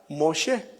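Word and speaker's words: משה: viene del hebreo Masá y su nombre en hebreo se pronuncia Mosé.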